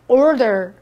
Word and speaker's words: order: 그냥 보통 막 주문하다 오더 오더 막 하시는데요 정확한 발음은 R 혀를 안으로 꼬는듯한 orderer orderer 따라해 보세요 older orderer 그렇죠네 혀의 안으로 꼬아서 older이라고 발음하세요 What do you wan